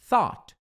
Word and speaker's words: thought: Mas só aprende que é thought. É thought é um sonzinho do th que é. E depois eu vou ensinar vocês como é que faz certinho esse som.